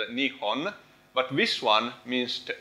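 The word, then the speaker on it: 日本: And this one, I think, in Japanese, let's see, this one, riben, so in Japanese it's like riben, in Chinese it's riben, in Japanese it's nihon, but this one means the origin of the sun.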